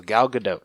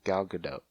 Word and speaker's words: Gal Gadot: how I say it ok gal gadot so it's not gal gadot yeah ok got it at least that's just how I've heard her pronounce it I could be like a